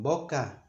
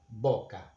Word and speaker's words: boca: If it's the first letter in the word, as in boca, mouth, boca, we pronounce it, as in English, for example, or in Italian or in French, B, boca.